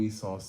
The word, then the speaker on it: Esau: Esau. Like a seesaw. The last chapter went over who Esau's sons were.